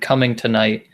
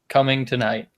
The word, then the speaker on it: Cummingtonite: Did you know that there is a stone-looking substance named Cummingtonite, and it's named after Cummington, Massachusetts? Oh, but is it tonight? Like, It's actually it's spelled Cummingtonigt. Cummingtonite.